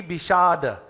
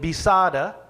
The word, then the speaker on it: विषाद: line you see Ati Bishada. You see B-I-S. So I'm not saying Bisada, I'm saying Sh. The S with the dot underneath it is pronounced Sh, not Sa.